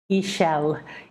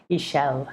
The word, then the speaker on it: Ixchel: up the moon goddess Ishel. So I'm going to write here um, how it's spelled. There you go. It's Ixchel. And X in Mayan is pronounced sh, like sh. Ishel, Ishel.